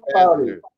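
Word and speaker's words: Boeser: Brock Bozer re-signs with Canucks 7 years, $7.25 million a year. He's American. You gotta say his name right. Besser.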